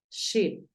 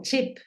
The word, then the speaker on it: ship: este caso tú dices ship ship la sh es un poquito más suave es como cuando le decimos a alguien que haga silencio entonces dices no es tanto como chip no es esa tan fuerte como la que usamos en español Bin vamos con Bin